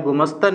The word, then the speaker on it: ഗുമസ്ഥൻ: ഗുമസ്ഥനാണോ ഗുമസ്ഥനാണോ ശരിയായ പദം അപ്പൊ ഇതിൽ സംഭവിച്ചിരിക്കുന്നത് എന്താണ് ഉച്ചാരണ വൈകല്യമാണ് അല്ലെങ്കിൽ ഉച്ചാരണ ദോഷമാണ് ഇവിടെ സംഭവിക്കുന്ന തെറ്റ് കാരണം എന്താണ് ഇവിടുത്തെ ഈ രണ്ട് അക്ഷരങ്ങളെ പരസ്പരം മാറി പ്രയോഗിക്കുന്നതാണ് ഇവിടെ സംഭവിച്ച തെറ്റ് ഇതിൽ ശരിയായ രൂപം ഏതെന്ന് ചോദിച്ചു കഴിഞ്ഞാൽ ഗുമസ്ഥൻ എന്ന് പറയുന്ന വാക്കാണ് ശരിയായ പ്രയോഗം പക്ഷേ നമ്മൾ രണ്ടും പ്രയോഗിക്കാറുണ്ട്